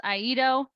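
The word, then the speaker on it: IEDO: office um in Eerie which of course we created an acronym for and pronounce aido um so if I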